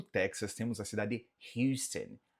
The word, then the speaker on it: Houston: Houston, Houston, Houston. Sim, Texas, também estado onde morei. E Houston, você pode ver, mas isso é um pouco mais peculiar de sotaque bem regional, tá? Eu diria que na grande maioria o pessoal só fala Houston, mas você